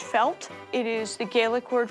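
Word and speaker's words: fáilte: This is pronounced felt.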